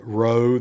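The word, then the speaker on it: rho: Uh, row, that you don't do as a P, but rather you do as a R.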